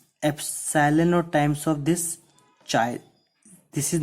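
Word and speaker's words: χ: So here the constant chi, this x which is pronounced as chi, this constant is proportionality constant, and it is only called electric susceptibility.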